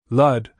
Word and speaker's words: Lud: It rhymes with crud, Eddie said.